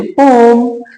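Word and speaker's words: poem: दुसरा भाग तो म्हणजे पोम याला पोम म्हणायचं पोएम हे प्रोनन्सशन नाही याच पण जर तुम्हाला आणि मला कमफर्ट वाटत असेल तर आपण पोएम अस म्हणत जाऊयात पण याच खर प्रोनन्सशन पोमच आहे लेसन आणि पोएम हे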